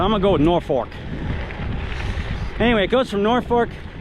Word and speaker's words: Norfolk: this B town and it's more like nor fork like the utensil you eat with not completely Fork but it's not folk so I'm going to go with Norfork anyway it goes from